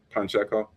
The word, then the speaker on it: Pacheco: Pacheco. There's no N in his name.